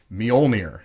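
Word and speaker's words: Mjölnir: who is worthy enough to wield Thor's hammer Mjolnir I said it right yeah yes okay good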